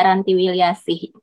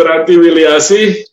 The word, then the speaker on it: Ranti Wilyasih: Jadi saya pertama koreksi namanya dulu. Nama saya Ranti Wilyasih. Karena nama itu ada artinya, jadi saya nggak mau diucapkan. Siap salah. Ya, Ibu Ranti Wilyasih.